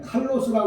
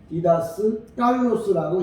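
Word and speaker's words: διδάσκαλος: 그러니까 보통 그냥 칼로스라고 그러는데 원래 이 단어만큼은 디다스 깔로스라고 읽어야 돼요.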